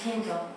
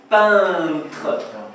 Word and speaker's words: peintre: C'est un pinto. C'est un C'est un pinto. peintre.